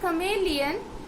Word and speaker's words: chameleon: Now here when I say chameleon, so now you must be seeing that the spelling is starting with CH. Okay. Though it is starting with CH, but still the pronunciation will be K.